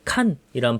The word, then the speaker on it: 간: 여기 한자로 써서 그런데 보통 이제 간은 이제 칸이란 발음으로 보면 될 것 같아요 칭기스칸 할 때 칭기스칸 할 때 그 칸 그래서 뭔가 군주 이런